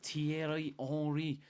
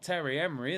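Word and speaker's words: Thierry Henry: enri but you know because the French pronunciation tieri if it was Terry Henry and he was from you know Stoke or something you know that Terry Henry from Stoke then I'll have a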